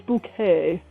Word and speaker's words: Bucket: bucket and she's like it's high since bouquet because she was trying to change the pronunciation so that her name